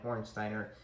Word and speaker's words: Hornsteiner: It's a Neuner Hornsteiner is how it's said in Germany, Neuner.